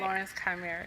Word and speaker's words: Lauren's Chimera: Did I pronounce that right? Lauren's Chimera, yes.